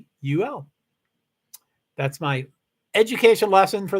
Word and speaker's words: Louisville: Louisville, Louisville, 2 syllables. Can't be 3. It's not Louisville. No, you know what I mean. Louisville is 3 syllables. Louisville is 2 syllables. And spell it. Louavul.